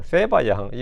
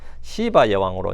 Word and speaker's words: 시바 여왕: 시바예 여왕, 스바왕, 세바 여왕.이 이 한국에도 이게 용어 통일이 안 돼 가지고 발음이 막 엉망인데 가장 이제 흔한 발음 이제 교과서적 발음은 시바 여왕입니다.